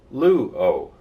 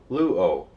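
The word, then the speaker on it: λύω: very painful way this is the Greek word luo can you pronounce it Lambda oops Salon Omega it has an acute accent when it's in its normal State not important but luo luo it means I destroy which is of course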